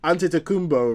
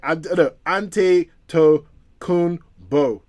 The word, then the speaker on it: Antetokounmpo: Okay, so basketball stars Chris Paul, Giannis his name is so hard to pronounce. Antetokounmpo, right? Antetokounmpo.